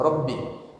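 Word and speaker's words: ربي: Bacanya boleh ya Rabb atau ya Rabbi.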